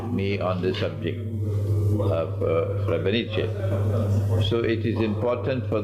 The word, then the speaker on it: Srebrenica: That's the correct pronunciation. Srebrenica.